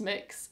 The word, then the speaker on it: Mx: metal because I'm married sir no it's not it's it's MX which I think it's pronounced mix it looks way better